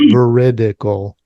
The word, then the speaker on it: Veridical: You'd be amazed how many people forget those little eyes in there. But, uh, you won that game. I had to say it slow. Veridical.